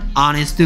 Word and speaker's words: honest: honest boy 라고 해야 된다고요.